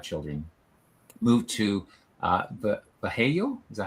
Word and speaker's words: Vallejo: Moved to Vallejo. Is that how you pronounce that? California? Mm-hmm. Yeah, Vallejo.